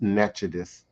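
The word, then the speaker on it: Natchitoches: outpost at the natchez natchitos how we pronounce nachodis and today has become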